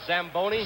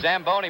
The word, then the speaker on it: Zamboni: is it's a tell you you should have pronounced it what does it call the samboni Zamboni machine and Joe you and I were talking